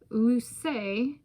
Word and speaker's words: Luce: I'm going to pronounce Luce to distinguish it from the Spanish Luce.